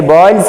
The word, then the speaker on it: Boyle's: I wrote Boyle's law, it's actually Boyle's law. LE is silent, so we used to pronounce Boyle's law. So don't think that is boys law, girls law, it is different, understood?